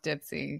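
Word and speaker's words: Dipsea: I always thought it was pronounced Dipsy-a, but I don't know. It's Dipsy.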